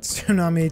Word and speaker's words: tsunami: Tsunami, T is silent, T E A is silent.